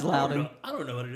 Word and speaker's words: Loudoun: Yep, it's Loudoun. I'm not from Virginia. So Yeah, me neither. I couldn't be any help. I'm like, It's Loudoun.